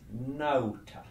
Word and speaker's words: nauta: A-U, that diphthong, is pronounced like the English word now. So the Latin for a sailor is nauta. A-U is au.